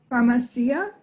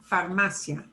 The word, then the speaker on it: farmacia: Ándale, abierta, antes, ventana, manzana, farmacia. Okay, now, farmacia. Farmacia. Right. Often it is an ia at the end, but this one is not, farmacia.